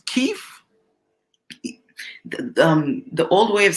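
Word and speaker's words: Kyiv: in Kei right now yeah I think it's Kei um the old way of saying it was Kev but it's ke C I saw that like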